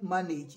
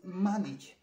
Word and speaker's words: manage: It is not manage. It is manage.